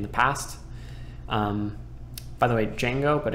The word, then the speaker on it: Django: By the way, Django, but it's spelled Django.